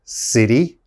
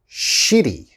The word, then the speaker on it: city: the first one is city okay city city you have to pronounce that city and a lot of my students say shitty okay you don't want